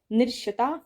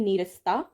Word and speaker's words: नीरसता: निरशता नहीं नीरसता।